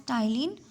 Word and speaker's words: ptyalin: P is silent. You should call it as ptyalin or salivary amylase.